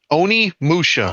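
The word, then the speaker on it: Onimusha: Then I'd probably go Dude, I can't pronounce the Amusha. Oni Musha.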